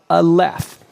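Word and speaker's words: aleph: example you can hear when I say the letter all left you hear the and the F sound right so this is the letter A here is it as a word word phonetically sounded out a left now to see all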